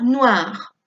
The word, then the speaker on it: noir: Et finalement, nous avons la couleur noire. Atención, OI siempre se pronuncia wa, noir. Un anorak noir, une robe noire, des escarpins noirs, des chaussettes noires.